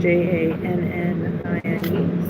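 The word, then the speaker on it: Jannine: And it's spelled j a n n i n e. So, it's Jan nine.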